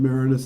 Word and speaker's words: Maraniss: My father has always pronounced it Maraniss, and that's the way I do, and Andrew and everyone else in the family now.